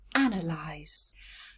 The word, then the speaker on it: analyse: compare the two let's start with the verb analyze how many syllables ah no lies yes three syllables now